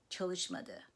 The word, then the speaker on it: çalışmadı: In the negative, the past tense suffix follows the negative suffix me, and the main stress falls on the syllable immediately preceding me. Gitmedim, çalışmadı, right?